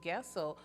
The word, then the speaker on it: Goessl: Bill Goessl, who is with Marine Corps League, St.